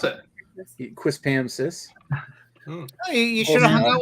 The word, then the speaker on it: Quispamsis: He even knows how to pronounce it. Quispamsis.